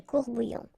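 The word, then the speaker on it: courts-bouillons: Well, same rule s as s you don't pronounce it. Des courbouillons.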